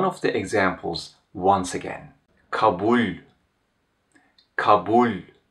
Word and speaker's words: kabul: The last le is palatalized. Kabul. If it was not palatalized, I would pronounce this word like this: kabul, kabul. Hear the difference: kabul, kabul, kabul, kabul. Because it's pronounced as kabul, it receives ler as a plural suffix.